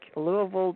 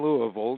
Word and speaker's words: Louisville: Stuff I was born in Louisville. You say it the way they say it back there. When people read it, they call it Louisville, but you're right, they pronounce it Louisville.